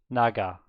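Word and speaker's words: 나가: Yes, and in the middle of a word it's G, right? Like Naga. I think Naga is not a nice word. It's like, get out of my game. Naga. So then it's like a G.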